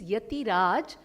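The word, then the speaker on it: Ethiraj: Etiraj College, we spell it as E-T-H-I, so Etiraj, the actual meaning is Yatiraj.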